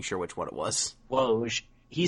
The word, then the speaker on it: Woj: I forget who said it, but I think it was Waj said that what was what they've learned from this series is that... You mean Woj?